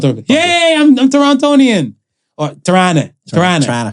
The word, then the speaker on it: Toronto: Or Tirana. You don't pronounce the last T.